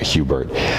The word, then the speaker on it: Hubert: named Philip Hubert and he preferred the the Ang angelized pronunciation uh uh Hubert um Hubert had grown